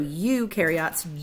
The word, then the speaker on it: eukaryote: Eu happily rhymes with do, so eukaryotes do have a nucleus.